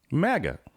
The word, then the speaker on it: MAGA: MAGA. MAGA. How would you pronounce make New York great again?